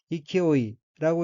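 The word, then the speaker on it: 勢い: 다음 어휘는 한자가 형세세자이고 일본어로는 이키오이라고 읽으며 이키오이는 기세, 활기, 힘, 세력, 위세란 뜻의 명사입니다.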